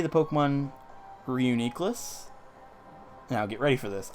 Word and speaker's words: Reuniclus: maybe it's a little bit too far-fetched, but I say the Pokemon Reuniclus. Now, get ready for this. I call Reuniclus Renacles.